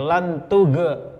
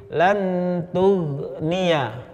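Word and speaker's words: لن تغني: magdubi, ya, sama seperti lantuge, salah. Ghain itu bukan huruf qalqalah, sehingga bacanya bukan lantuge tapi lantugniya.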